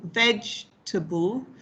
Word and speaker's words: vegetable: So in a word like vegetable, okay, so we have the stress on veg, the first syllable, vegetable. So t, that's an that's the schwa, that's the weak form, and bull, again, is another schwa, another sound.